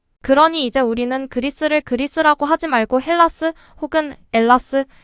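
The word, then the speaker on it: Ελλάς: 아고 부르길 원하고 있습니다 헬라스의가 무음이 되어 엘라스 혹은 엘라다 아고 발음하는 것이지요 헬라스 헬렌의 후손이라는 뜻입니다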